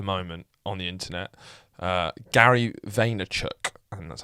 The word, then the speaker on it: Vaynerchuk: speaker at the moment on the internet, Gary Vaynerchuk, and that's how you say it, or Gary Vee as he's shortened it for branding purposes.